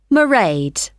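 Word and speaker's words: Mairead: How do you spell that? It's m a i r e a d. Merade.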